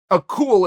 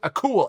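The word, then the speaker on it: Akgül: to you because gable a cool is i believe how you say his name turkish heavyweight i believe it's pronounced a cool akul we're gonna go at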